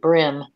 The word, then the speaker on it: bream: Some people pronounce it brim, even though there is a brim and a bream.